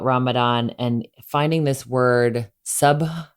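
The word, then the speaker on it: sabr: remember learning about ramadan and finding this word sub it's spelled s-a-b-r sub which means patience and gratitude and one of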